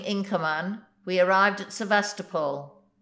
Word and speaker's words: Sevastopol: command we arrived at sevastopol the Russians pronounce it sevestopol with the accent on the third syllable here the yacht was